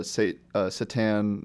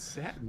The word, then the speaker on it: satin: Satan. It's satin. I almost said Satan, The so wrong emphasis on the wrong syllable.